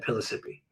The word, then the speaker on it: Pellissippi: take topside every day or did he take pillisipi I always I can't pronounce it pillisipi Uh the family I think the person I've spoke to said Pellissippi that's what he took.